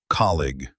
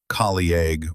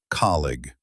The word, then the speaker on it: colleague: This one is tricky because it looks long, but it only has 2 sounds. Colleague. Not colleague or colleague, just colleague.